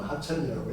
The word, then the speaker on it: 합천: 합천이라는 게 원래 협천이거든요. 협천이라고 써놓고 합천이라고 읽어요.